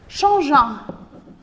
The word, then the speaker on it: changeant: Arrivant à la maison, déposant ses affaires, changeant. Et attention, le verbe changer, vous avez besoin d'un E pour prononcer le G.